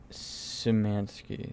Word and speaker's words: Szymanski: David Szymanski. That's how you pronounce that.